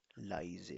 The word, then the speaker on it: leise: बाद में हो, तो इस कॉम्बिनेशन को कैसे प्रोनाउंस किया जाता है? I. आई, आई. अलिफ मद्दा और छोटी है आई, Rice. इसीलिए इसको क्या पढ़ा जाएगा? Rice. राइश, लाइजे.